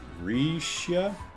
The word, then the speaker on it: Rixia: the fuzz rixia reads Risha okay and that's a Jared's apparently favorite NPC that makes that makes sense uh Brian says Rick she's pronounced uh Risha with a soft like the G and Mirage regia Indonesia all right